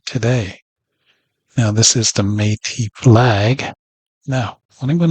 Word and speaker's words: Métis: You see the word M-E means may, like Métis, see? This is right on the key, may. See, word me right here translates to may, pronunciation of it may. Now, directly to the key, once again, we see the word TIS, Métis.